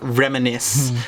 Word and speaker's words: reminisce: And lastly, one thing that we all do, reminisce, which is a verb which is spelled R-E-M-I-N-I-S-C-E, reminisce.